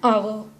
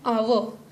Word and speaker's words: hour: Example, an hour, an honest man. Now in both the cases the letter H is silent. We are not pronouncing the letter H, we are pronouncing the letter O. An hour, an honest man.